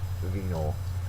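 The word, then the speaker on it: venal: last word is venol venol uh venol has a first syllable accented is an adjective open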